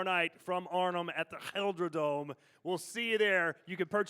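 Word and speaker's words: GelreDome: Gelderdome.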